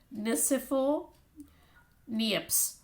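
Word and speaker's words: Nicéphore Niépce: the name is french therefore a little uh pronunciation it's joseph uh here you have the name here it's joseph nisifo nieps so that's the name the french inventor when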